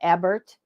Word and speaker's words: Ebert: I apologize is that Ebert it's pronounced either way we pronounce it Eber but it can be pronounced either way it gets called either